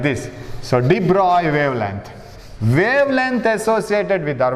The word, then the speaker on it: de Broglie: dibra de broglie wavelength some people say it is deep wrongly and some actual pronunciation is de bruy right de bruy wavelength